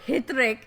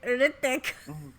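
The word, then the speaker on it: Hrithik: of all who is it's not hric it's ertic I thought he had H in his name it's a silent oh I that was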